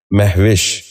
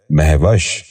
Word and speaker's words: مہوش: اور آخری لفظ ہے مہوش۔ یہ غلط تلفظ ہے، درست تلفظ ہے مہوش۔ دوبارہ سنیے، مہوش۔ بچوں آپ بھی غور